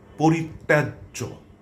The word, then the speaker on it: পরিত্যাজ্য: আরেকটি শব্দ হচ্ছে পরিত্যাজ্য। এখানেও তটি দত্ত হবে। দুবার উচ্চারিত হবে।